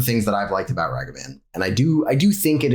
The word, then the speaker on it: Ragavan: It's Ragavan, if I'm pronouncing that right. I mean, you're not. I'm not. How do I pronounce it? It's Ragavan.